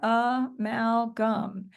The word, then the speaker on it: amalgam: sounds of the words how many syllables do you hear in the word amalgam well first nice I see somebody holding up three nice job yes and for every sound every vowel sound we hear we have a syllable and yes we have three syllables so there they are a Mal gum and now you could